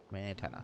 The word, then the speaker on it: smetana: How do you pronounce that? Okay, let me take a look. Smetana.